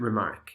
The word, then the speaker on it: remark: made a funny remark there are two syllables here two stresses the First on re and the second on Mark English speakers usually stress the second syllable more than the first to do it the